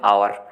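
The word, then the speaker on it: hour: For example जैसे यहाँ पे आवर लिखा है, लेकिन इसको बोलते हैं कई सारे लोग बच्चे हवर, हवर। तो अब इनके मुंह से क्या निकलता है सबसे पहले, हा, तो इसलिए यहाँ पे एल ए लगा देते हैं, लेकिन ये बहुत बड़ी गलती है। इसकी प्रोनाउंसिएशन आती है आवर।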